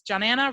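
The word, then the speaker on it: Johanna: And just remember, it's Johnanna rhymes with banana.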